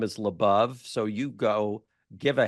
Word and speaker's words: LaBov: my last name is labov so you go give a heck so people understand it I have gone labove and Beyond which helps people pronounce labove so it's labove and Beyond which is